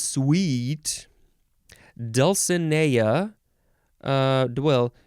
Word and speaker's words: Dulcinea: the dulcimer sounds sweet dulcinea uh dwell you could say dulcinia or dulcinia you can emphasize that